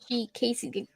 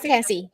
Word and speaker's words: Cassie: like this one when Casey. Wait, is it Casey? Right? Casey? Excited. Am I saying it right? Yeah, okay. I say Cassie. Cassie. Okay, it's Cassie. Sorry, it's Cassie. I'm saying it wrong.